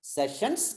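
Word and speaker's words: Sessions: Court of செஷன் அல்லது செஷன்ஸ் court, இப்படித்தான் உச்சரிக்க வேண்டும். செஷன்ஸ் அங்க எஸ் வரும், செஷன்ஸ் கோர்ட் அல்லது கோர்ட் ஆஃப் செஷன் என்னோட முடியும்.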